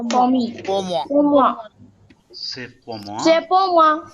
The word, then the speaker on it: C'est: Say is For me. exactly For same moi. as say in English. Say, the pronunciation is same as say in English, and pour moi, pour